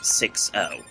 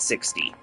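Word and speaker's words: 6O: So, the name pronunciation is 6, not 60.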